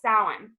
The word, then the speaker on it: Samhain: And for those of you who don't know, it's spelled Samhain, which is like a hilarious way to spell things, but that's just the way that the Celts pronounce it, yeah.